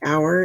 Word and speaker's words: hour: type in one hour notice that the word hour is a homophone for the word oh you are meaning belonging to us but this hour has a silent h at the beginning okay so i already